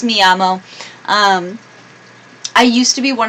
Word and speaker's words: llamo: what I would say me llama me llama Anna now I know it's me llamo I used to be